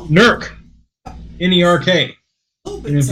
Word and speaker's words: Newark: If you go through Newark, they still have those T-shirts that say Nurk Ahia on them, because that's how all the locals pronounce the name of the town.